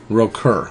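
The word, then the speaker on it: Rökkr: O and then a KKR I would think Roker Oh so as you say Keisha is it pronounced Roker for the for your steed or rope here Roker okay good all right ahead right the first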